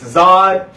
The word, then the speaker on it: Zeoh Deeh: No, it's ZEOH DEEH, no space. Okay. It is Zod phonetically.